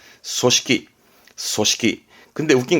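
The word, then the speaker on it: 組織: 조직, 무언가를 조직할 때 조직은 발음은 소시키.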